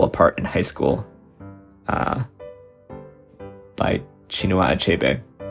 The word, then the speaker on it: Chinua: I did read Things Fall Apart in high school by Chinua Achebe, who I used to pronounce Kinua Achebe until I Googled him on this channel to figure out how to pronounce it.